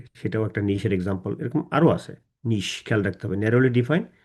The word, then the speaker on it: niche: আর market নিচার উচ্চারণটা কিন্তু তখন কিন্তু মার্কেট নিশার বলবো না, তখন বলবো মার্কেট নিচার, NICHER। আর এখানে যখন বলবো নিশ বলবো নিচ না, নিশ। ওইখানে বলবো মার্কেট নিচার, এখানে বলবো নিশ।